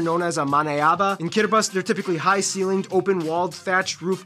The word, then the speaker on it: Kiribati: The alphabet only has 13 letters and no S's, so they substitute the S with a T-I for some reason, hence Kiribati.